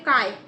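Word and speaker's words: χ: सो and mole fraction को हम लोग प्रोनाउंस कैसे करते हैं, काय। ये जो x है ना, जो हम लोग ने ऐसे डिनोट किया है X2, उसको काय बोलते हैं, ओके।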